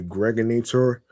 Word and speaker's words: Gregonator: I'm your man, aka the Gregonator, rhymes with now or later.